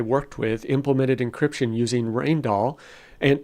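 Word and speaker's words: Rijndael: grab some encryption algorithm like rall or some people call it reindel or rendel or whatever but it's pronounced rainall do not use rainall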